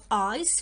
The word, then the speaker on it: ice: Come to the ice rink. Ice, ice. C is followed with E, so we will put a circle because we pronounce the C softly here as sa.